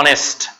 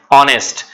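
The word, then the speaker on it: honest: যখন আওয়ার বলবো তখন এইচ এর উচ্চারণটা এখানে সাইলেন্ট, ঠিক আছে। একইভাবে অনেস্ট, একইভাবে হচ্ছে অনেস্ট, যদি হ্যাপি বলি তাহলে আবার ঠিক আছে, তাহলে একইভাবে এটা হচ্ছে কি অনেস্ট।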